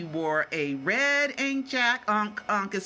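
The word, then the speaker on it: ankh: Unk is spelled A-N-K-H. That's why I always say ink, but it's pronounced unk.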